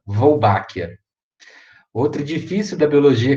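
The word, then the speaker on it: Wolbachia: homenagem a alguém sobrenome polpa é então vai pronunciar volbak a outra difícil da biologia que aparece né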